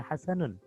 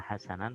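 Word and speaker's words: حسنٌ: Wakana Hasan, nah perhatikan, wakana Hasan, Hasan adalah isim kana, maka dibacanya Hasanun, bukan Hasanan, bukan Hasanin.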